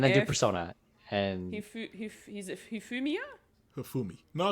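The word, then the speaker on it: Hifumi: And he's Humia.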